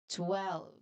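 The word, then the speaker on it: twelve: So, this number is also tricky because um it has many different sounds that happen very quickly at the beginning and as well at the end. So it starts with the fast sound of t which is a combination sound.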